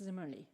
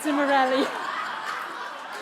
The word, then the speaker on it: Zimmerli: Would you like me to tell you that it's pronounced Zimmerli, not Zimmerelli? Say it louder. The German is Nadine Zimmerli.